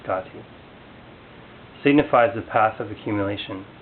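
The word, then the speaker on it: gate: The first repetition of the word Gati, gone, pronounced Gati, signifies the path of accumulation.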